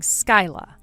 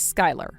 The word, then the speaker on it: Skyla: you read that as Skylar? Huh? You're supposed to read that as Sky. Sky. So your name is Sky, yet you spell it? It's spelled Skyla, but you read it as Sky.